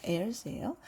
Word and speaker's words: heirs: 네, H는 묵음이어서 hair가 아니라 heirs예요. 하나님의 상속자고요.